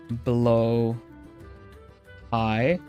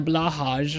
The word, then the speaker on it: Blåhaj: And I've managed to realize exactly that if you say it in English as blow high, like you just blow some air up high, then you say it correctly.